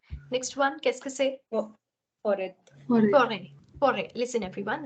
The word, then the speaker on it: forêt: Forêt. Forêt. Forêt. Listen, everyone. The T here is silent.